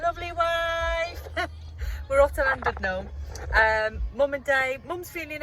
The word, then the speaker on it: Llandudno: The English call it Llandudno. The correct pronunciation is Llandudno.